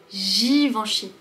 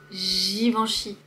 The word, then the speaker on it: Givenchy: Givenchy. Girafe. Ensuite, on a le son en. Givenchy. Le son ch. Ch. Suivi du Y qui se prononce comme un I.